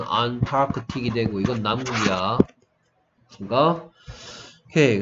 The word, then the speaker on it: Antarctic: 그래서 악틱에 이거 붙이면 발음은 안타크틱이 되고 이건 남극이야.